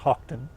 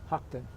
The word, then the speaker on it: Houghton: It's an English name, and it's in England it's pronounced Houghton, Houghton.